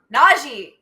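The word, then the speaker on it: Najee: that we're excited about naji by the way uh announcers that's how you pronounce his name i'm like nazi naji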